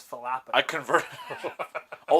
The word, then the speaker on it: falafel: the problem because it's Falafel I converted oh like the pepper you're falafina oh yeah you're not supposed to pronounce the F it's yeah it's a pH I think it is